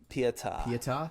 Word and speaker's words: Pietà: How do you say it? Pieta? Pietà is how I say it.